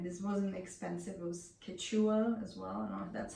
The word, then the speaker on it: Quechua: cool fabric and this wasn't expensive it was Quechua as well that's how you pronounce it but yeah a fleece for this